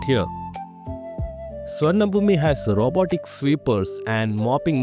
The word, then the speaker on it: Suvarnabhumi: And then, we landed at the legendary Suvarnabhumi International Airport. Yep. That's pronounced Suvarnabhum.